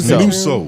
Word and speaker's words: Nutso: It's Nuso. Nuso. It's Nuso. There's only two ways to pronounce Yeah, it. Nuso. It's Nutso or Nuso, and it's definitely Nuso.